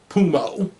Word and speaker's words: Pumo: Pumo. P-U-M-O. Almost kind of, yeah, I know Pumo is P-U-M-B-A, but yeah. One idea behind the Pumo name is more so to rhyme with sumo.